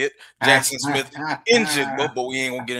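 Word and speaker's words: Jaxon Smith-Njigba: Jackson Smith and Jigba, but we ain't gonna get into that.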